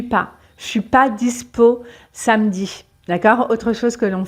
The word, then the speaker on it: samedi: Par exemple, dans le mot samedi, en général, on va dire samedi.